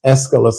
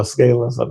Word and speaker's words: Escalus: yeah particularly the prince escalus or escalas we have some people pronounce it different but anyway so audition